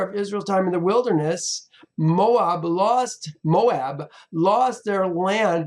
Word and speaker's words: Moab: land used to be Moab and it's it's pronounced Moab that land used to belong to Moab and